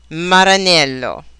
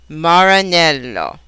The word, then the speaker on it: Maranello: buo English R buo Italian r maranelo English are Maranello one final aspect of